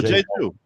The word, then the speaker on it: Jeju: We got the authentic Korean name, which I'm sure I'm mispronouncing. No, Jeju, not J.